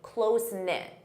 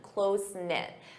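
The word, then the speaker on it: close-knit: a close knit family close knit notice that pronunciation close knit this is an adjective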